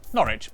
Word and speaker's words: Norwich: through a couple of basics sester is pronounced stir leicester worcester gloucester w sa simula ng huling pantig ay tahimik ang norwich beric southwark er ay